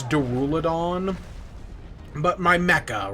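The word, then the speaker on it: Duraludon: with my favorite D I always pronounce it duraldon I know it's duruladon but my Mecca right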